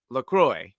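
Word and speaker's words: LaCroix: They're like lacro or lacroy and then the the person is like enjoy lacroy. That's how they remember it.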